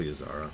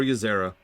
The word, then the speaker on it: Ysera: Hello, Ysara. Or Ysera. They're going to pronounce it a lot of different ways.